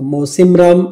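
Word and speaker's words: Mawsynram: आता मौसिमराम हे प्रोनाऊन्स असं आहे, मात्र याचं स्पेलिंग थोडंसं वेगळं आहे. स्पेलिंग आहे MAWSYNARM. ठीक आहे, तर राम सोपं लक्षात राहून जातं.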